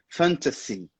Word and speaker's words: fantasy: Na verdade, aquele S ali no final tem um som de S mesmo. Fantasy.